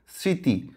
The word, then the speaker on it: স্মৃতি: কিন্তু ম ফলা আছে স্মৃতি মানে কি মেমোরি স্মরণ স্মরণ মানে রিমাইন্ড করা তাহলে এই যে ম ফলা বা ব ফলা যেটাই হোক না কেন যদি শব্দের শুরুতে থাকে তাহলে সেটা সাইলেন্ট থাকবে বা উচ্চারণ হবে না